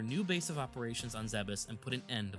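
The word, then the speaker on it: Zebes: A quick aside here, is it Zebus or Zes? I grew up pronouncing it as Zeb, so it sounds weird to me to say Zeus. I say Zebus.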